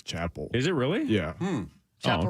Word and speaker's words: Chappell: I think it's Chapel. Is it really? Yeah. Chapel okay. Roan. I believe that's right, yeah. Chappell. Like Dave two L's. Chappelle? Yeah, that's how it's spelled. But Chapel.